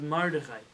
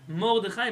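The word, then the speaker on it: מרדכי: That's the Sephardic pronunciation of his name. His name is Mordechai. Not a but a. Yeah? Mordechai, because we know that kamatz is a kamatz katan.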